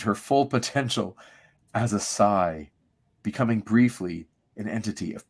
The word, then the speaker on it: Psi: Do you pronounce this Psi or C, or how do you pronounce that next word? I say Psi powers.